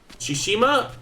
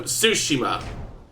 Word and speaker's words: Tsushima: Shishima? No, Tsushima.